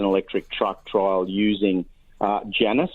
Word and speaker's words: Janus: truck trial using uh Janus I think is the way you pronounce it j-a-n-u-s it's a Janus electric